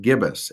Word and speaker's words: gibbous: that is a weird sciency word that is pronounced gibbous a gibbous moon as the moon continues eventually